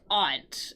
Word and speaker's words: aunt: one yeah this one's Aunt exactly aunt or some people will say Aunt I say Aunt both of those pronunciations are acceptable ant or Aunt all right all right